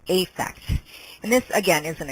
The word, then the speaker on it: affect: one a is correct effect and this again is an exception to the rule it is almost always pronounced as a long a effect so here it